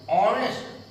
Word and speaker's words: honest: अब आप देखें कहा an honest, honest, इसलिए उच्चारण आ, एच साइलेंट है इसलिए आ का उच्चारण हुआ, आ का उच्चारण हुआ इसलिए एन का प्रयोग हुआ।